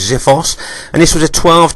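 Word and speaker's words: xiphos: smell xip H OS I think it's pronounced as if us and this was a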